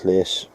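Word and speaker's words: llus: In Welsh it's llys. That's spelled, saying it in English, L-U-S.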